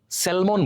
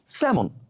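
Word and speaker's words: salmon: স্যালমন বলি, স্যালমন। আমরা এলে স্ট্রেস দিই, স্যালমন, কিন্তু এর উচ্চারণ কি হবে? স্যামন, যেখানে এলটা থাকবেই না, এলের উচ্চারণ উজ্জ্ব থাকবে, স্যামন।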